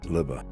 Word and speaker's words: Lubbe: uh 2hour M conversation uh with Dr liba which uh I'm pronouncing correctly it's spelled l Ube e but it's liba and you might catch a little bit of